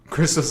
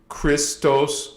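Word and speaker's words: Kristos: Christos with a K sounds the same way as with Christos with a CH.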